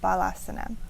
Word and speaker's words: Balasana: And in the Kripalu tradition that I learned it's more commonly known as GHARBASANA, but also in our manual we have BALASANA.